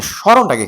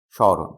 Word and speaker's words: স্মরণ: ম ফলা থাকলে কি হয়? চন্দ্রবিন্দু হয়। চন্দ্রবিন্দু দিছি স। এরপর দেখো মাঝের বর্ণের অ উচ্চারণে কি হয়? ও হয়। স্মরণ। মূর্ধন্য থাকলে উচ্চারণে কি হয়? দন্তের ন হয়।